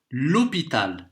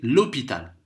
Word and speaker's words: l'hôpital: Et c'est la même chose avec le H muet. On va dire l'hôpital, directement. H muet, c'est comme s'il n'y avait pas de H. Donc c'est l'hôpital.